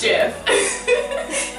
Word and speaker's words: GIF: close but not quite it is pronounced jiff you're wrong if you could say it otherwise I love you still probably a person I love them you pronounce a gift I love you we're wrong enjoy going to the